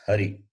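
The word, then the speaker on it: हरि: So when you say, when you read the shabdas under this topic, remember it is e, not e. Hari, not hari.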